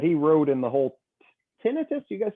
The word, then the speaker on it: tinnitus: little diagram that he wrote in the whole tinnitus. You guys say, how do you say it, Nick? You say tinnitus.